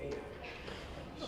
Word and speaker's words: Ayad: My parents are Pakistani, so they mispronounced it from the beginning. I married a French woman, so she pronounced it completely differently. And my kindergarten teacher decided that AYAD was Ayad. So in Milwaukee, I grew up doing Ayad. So I oddly feel most comfortable with Ayad.